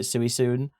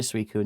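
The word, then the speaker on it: Suicune: So I used to call it suiun but I call it suicun now.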